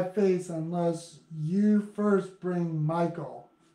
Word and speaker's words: Michal: unless you first bring Michael. So Michael, this is her name in Hebrew. Strong's H-4324. Michal.